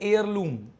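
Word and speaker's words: heirloom: इसको बोलते हैं एयरलूम, इसमें एस साइलेंट रहता है, एयरलूम बोलते हैं इसको।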